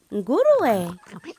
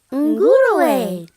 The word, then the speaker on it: nguruwe: Nguruwe. Pig. Can you try that? Nguruwe. Pig. That's how you say it in Swahili.